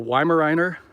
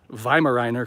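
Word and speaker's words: Weimaraner: dogs i have a weimariner i actually i think it's pronounced vimeriner because that's a german breed but uh yeah she's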